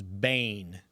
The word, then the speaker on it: Bane: Guy's name is Bane. Okay. Okay. Rhymes rhymes with pain.